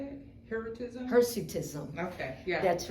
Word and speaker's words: Hirsutism: Hirsutism?